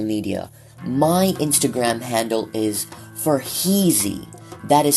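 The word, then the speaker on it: Farheezy: If you would like to connect with me on social media, my Instagram handle is for Heezy. That is spelled F A R H E E Z Y.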